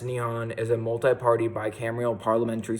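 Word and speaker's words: 日本: eleventh most populated country in the world Japan pronounced neon as a multi-party bicameral parliamentary system where the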